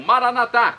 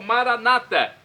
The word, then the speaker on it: Maranata: aramaico dialeto de Jesus eu clamo maranat como dizemos nossos católicos ou Maranata como dizem nossos irmãos separados os evangélicos ou protestantes não importa a pronúncia